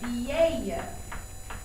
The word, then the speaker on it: vieille: And in the feminine singular, it's going to become this funky word called vieille. Répétez, vieille. V-I-E-I-L-L-E. So, V-I-E-I-L-L-E. It's a hard one to try to remember to pronounce, so that pattern has helped me.